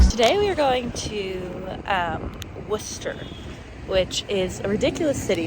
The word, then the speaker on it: Worcester: today we're going to um Worcester which is a ridiculous city name because it looks like Worchester but apparently it's pronounced Worcester um but we're in a total Adventure outfit